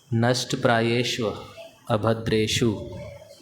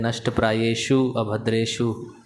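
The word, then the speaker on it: नष्टप्रायेष्वभद्रेषु: तो भक्त लोग प्राय बोलते हैं नष्ट प्रायेषु अभद्रेषु, शु शु दो बार नहीं है, पहली बार श्व है, श्व, नष्ट प्रायेषु अभद्रेषु, क्योंकि मीनिंग बदल जाता है।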